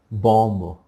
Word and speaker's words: bomb: अब इसको कैसे प्रोनाउंस किया करेंगे, बॉम्ब। कई लोग से सुना होगा ना, बॉम्ब। ब नहीं आएगा, बी हमने कहा था, कोई भी वर्ड लास्ट में बी नहीं, तो क्या करेंगे, बॉम्ब।